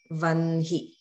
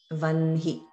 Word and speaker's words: vahni: And this is the word for fire, which we spell in English as V-A-H-N-I, but we pronounce as vanhi, vanhi.